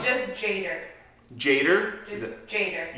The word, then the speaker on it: Tjader: It's just Jader. Jader? Just Jader. You don't pronounce the T? Like, just Jader.